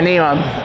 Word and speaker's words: NEOM: I think, is it Neom or however you pronounce it? Yeah, Neom.